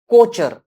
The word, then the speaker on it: Kocher: So that is the fourth vein of the Kocher or Cocker, whatever the pronunciation you want to do, you can do.